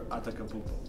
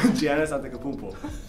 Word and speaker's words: Antetokounmpo: Like Jokic or Antetokounmpo? Antetokounmpo. Giannis. Couldn't say his name. Say that again one more time. Giannis Antetokounmpo. Yo, that was good. Antetokounmpo.